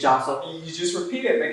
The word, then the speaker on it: Jasso: So it's like, it's not Jasso just because I'm Mexican. It's not an H, it's a J. It's Jasso.